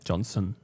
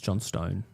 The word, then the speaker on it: Johnstone: Johnson. It's John Stone. You actually pronounce it John Stone. Yeah, John Stone. It's different to Johnston, which is also different to Johnson, which is different to Pon.